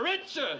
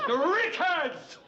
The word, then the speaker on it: Richards: how' it sound boys Rickards you s Rickards I don't get your point M her name is Richard now I get your